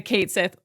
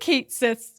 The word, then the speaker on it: Cait Sith: So, they decided to go phonetically, right, with the Kate Sith. Again, I think it was the right move to say it like it's spelled because if they were going